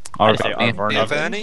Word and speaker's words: Arverni: How do you pronounce that? The Arverni. Arverni.